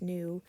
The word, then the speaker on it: nu: let's see so new it's pronounced new it is the symbol